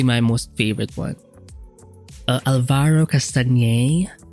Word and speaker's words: Castagnet: Alvaro Castañer. Or I just in my head I spell it Castagnet because that's how you spell his name.